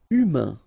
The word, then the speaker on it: humain: Humain. Remember, H doesn't exist. So, U, then A-I-N together. Un. Humain. Humain.